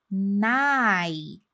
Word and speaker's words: night: que ele fala esse night, last night, ele não fala explodindo esses sonzinhos de T.